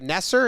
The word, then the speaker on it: Nasser: and it happened so this guy Nasser is how you pronounce it he knows it's a